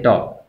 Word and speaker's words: torque: बेटा देखिए कि अगर हम मैथमेटिकली टार्क की बात करते हैं तो इसको जो डिनोट किया जाता है वो इस साइन से डिनोट किया जाता है और इसको प्रोनाउंस करते हैं टॉक।